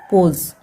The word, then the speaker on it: pose: फिर एस को पढ़ा जाता है ज, ठीक है, पोज, ज पढ़ेंगे। फिर ई को साइलेंट रखना है, तो उसके लिए कुछ नहीं लिखेंगे, ये हो गया पोज।